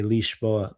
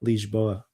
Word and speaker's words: Lisboa: Say leisboa, but the Portuguese would say leash boa. Lisboa. Oh, that's very Portuguese.